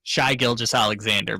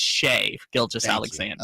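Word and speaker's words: Shai Gilgeous-Alexander: just Alexander is trash how'd you pronounce his name shy Gill just Alexander but I'm just doing it to be I know yeah I got it it's correct got it correct is shave Gill just Alexander okay yes um so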